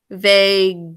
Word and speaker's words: vague: Vague. Do you remember what keeps the g, j saying the g sound? Vague. Need to make sure it says that hard g.